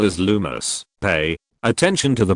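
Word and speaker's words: Lumos: The spell is lumus. Pay attention to the pronunciation which must be standard.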